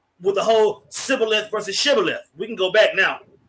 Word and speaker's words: Shibboleth: It says, then said they unto him, say now Shibboleth, and he said Sibboleth, for he cannot frame to pronounce it right.